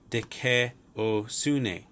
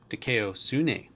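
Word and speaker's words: δικαιοσύνη: When alpha, iota occur together, you have an sound resulting, as in said, So you have dekeosune, dekeosune, dekeosune.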